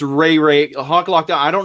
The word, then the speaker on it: Ray-Ray: weeks go on first i believe it's pronounced ray-ray okay sorry uh but